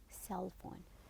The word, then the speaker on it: cell phone: board then window pane it is window pain the pain is unstressed and the other one which is cell phone it is cell phone try to to pronounce the first one that's louder and longer vowel okay so these are